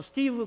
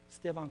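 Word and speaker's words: Stephen: 스데반 커리 라는 선수입니다 원래 미국식 발음으로 는 스티브 커리 라고 얘기했는데 이 친구는 스티브 라고 얘기하지 않고 3반 이라고 얘기합니다 스테판 커리 4 선수가 굉장히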